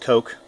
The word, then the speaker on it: Cook: So it could be pronounced Coke, but he goes by Cook. I actually know a guy in high school named Jake Cook who pronounced it Cook as opposed to Koch or Coke.